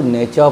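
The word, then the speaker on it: nature: टी के बाद यू आर या यू आर ई लगा हुआ रहे तो टी का उच्चारण चौ हो जाता है। गौर से देखें, एन ए टी यू आर ई, इसको हम लोग नेचर पढ़ते हैं।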